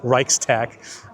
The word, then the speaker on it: Reichstag: I think this is the Reichstag, or you probably pronounce it as Reichstag.